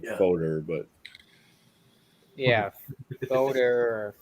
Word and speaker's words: foeder: Foder, but Yeah, Foder or Fooder. I'm not sure how you really pronounce it. What the hell are you talking about? Fooder is how they say it. That's how it's pronounced.